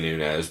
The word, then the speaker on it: Nunes: role uh but meate Amanda N n or Nunes depending on who the you ask it's definitely Nunes but goddamn announcers keep saying it wrong it's bothering the [